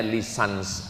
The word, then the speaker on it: licence: LC itu singkatan dari licenc. Bahasa bahasa Inggris cara membacanya lisans.